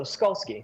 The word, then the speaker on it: Skolski: to say oh yeah it's like a a skull that skis so skolski okay so Jeff skolski